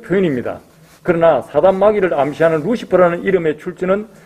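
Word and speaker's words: Lucifer: 자, 그런데 여기서 보면 라틴어 루키페스가 영어 스펠링으로 보면 똑같아요. L-U-C-I-F-E-R. 그걸 라틴어로 읽으면 루키페스예요. 그런데 영어로 읽으면 루시퍼가 되는 거예요.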